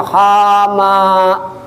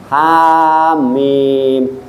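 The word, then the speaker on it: حم: Jangan bacanya hama. Nah, hamim.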